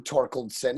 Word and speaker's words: Torkildson: Extremely grateful, and it's okay that you didn't say my name, Torkildson.